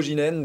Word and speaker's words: Geenen: de suite avec son cofondateur, son président Ginène. Bonjour. Bonjour Thomas. Bienvenue. Est-ce que j'ai bien prononcé votre nom?